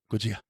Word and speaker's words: Gojira: You're not even saying it right. Gojira. You had to consciously think about that. That was funny. Well, I said the American way to say it.